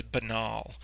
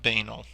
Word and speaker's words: banal: keep in mind that the stress is on the second syllable it's banal not banal because people will probably